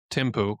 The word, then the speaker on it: Thimphu: But as far as the capital, and I'm trying to, how do you pronounce that? Thimphu. Thimphu.